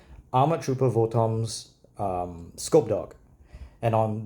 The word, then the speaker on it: VOTOMS: see the armor trooper voms I know it's pronounced votoms but I don't like the way that sounds armor Trooper votoms um scope dog and on the top left